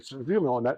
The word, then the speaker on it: Saint-Jure: pas à côté he donc on commence par saintjorge saint-jur donc le village s'appelle saint-Jure c'est un village en